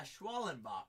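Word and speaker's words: Schwellenbach: Schwallenbach there for the, am I pronouncing that correctly? Yeah, Schwallenbach there for the Atlanta Braves.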